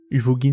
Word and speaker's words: Uvogin: mort d'ouo du beau huvogin enfin il y a un V mais ça se prononce comme un B donc hubo on va dire voilà